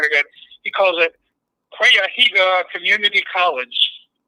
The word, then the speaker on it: Cuyahoga: and I swear to God, he calls it Cuyahoga Community College. It's supposed to be Cuyahoga Community College. So if you can't even pronounce the name of the county or the